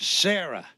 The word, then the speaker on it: Sarah: I want you to meet Sarah. S-A-R-A-H. And you better pronounce the H when you say it.